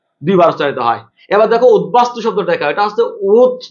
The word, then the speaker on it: উদ্বাস্তু: আমি আবার বলছি, উত উপসর্গ দিয়ে গঠিত শব্দের তয়ের স্থানে দ, ওই দটা যদি ব হয় ওই বর উচ্চারণ ঠিক থাকে।